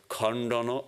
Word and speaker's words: Khandana: as a V usually, is pronounced in Bengali as ba, like a B. So the V disappears and all you have is a B. So it's Khandana, and then the A's become O's.